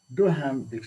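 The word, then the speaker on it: Duhaime: pronouncing this this is d-u-h-a-i-m-e doh ham he he defines in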